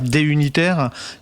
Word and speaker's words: Duniter: Euh donc c'est d'unitaire, tu ne prononces pas le D en séparé hein, c'est pas D unitaire d'unitaire.